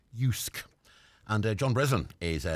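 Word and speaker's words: JYSK: Danish home retailer it's spelled j-y-s-k but it's pronounced yusuke and uh John Breslin is going to be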